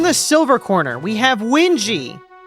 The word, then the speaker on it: Wingie: In the silver corner, we have Wingie. He swears it's not pronounced Wingy.